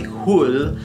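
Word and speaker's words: Hole: Norway Michael Fassbender is Harry who yes that's how it's pronounced it's a Norwegian thing is a gifted detective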